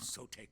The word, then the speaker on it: Sotek: Other children of Sotek hold Sotek, out yeah, that's how you pronounce that, mate.